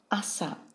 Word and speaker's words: 朝: which means morning and it's pronounced Assa this chart shows the